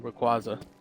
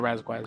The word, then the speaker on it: Rayquaza: and um Kyogre and Rayquaza or Razaquis depending on how you say it. It's not Raziquis.